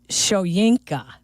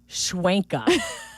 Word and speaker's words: Shoyinka: It is Shoyinka, not Schwenka.